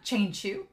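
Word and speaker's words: Qianqiu: especially with long um chain shoe as his name is supposed to be pronounced thank you I'll get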